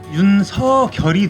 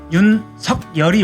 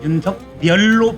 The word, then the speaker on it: 윤석열: 마음 신방변에 태자가 들어있는 기쁠 열자로서 원래 국어학적으로 발음을 하면 윤서결이 되겠죠. 윤서결. 네, 그런데 윤석열. 네. 서결인데 네. 이것은 고유명사이기 때문에 따로따로 연음 이름에서는 연음을 적용을 안 해요. 그래서 윤석열이 맞습니다.